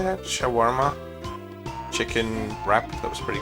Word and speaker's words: shawarma: not a sandwich I also had a a schwarma uh sha how do you say that shawarma chicken wrap that was pretty good yeah that's